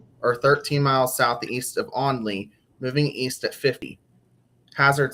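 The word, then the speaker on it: Olney: located near Lancaster or 13 miles southeast of Onley, moving east at 50.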